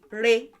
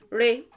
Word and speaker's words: re: so one syllable verb this has the re tone there are no tone marks on it so re re and it's re because it's well it's not do it's not she it's not she and